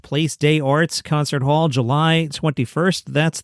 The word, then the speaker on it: Place des Arts: He will host an evening with David Letterman and special guest Will Arnett at the Place des Arts. That is how it is pronounced in French. Place des Arts concert hall, July 21st.